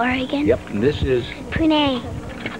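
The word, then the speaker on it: Puneh: Pune. Pune. Spell it.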